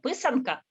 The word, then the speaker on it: писанка: How do you pronounce that? Pinsky? What? What did she preserve? The decorative egg, the Easter egg. Oh, писанка.